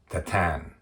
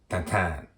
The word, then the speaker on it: Tintin: Tintin, or I think as the right pronouncing is something like Tatan. That is actually the right pronouncing. I didn't mess that. Tantan. That is the way that all the pronunciations after this will be measured. Tantan. But everybody else is Tintin.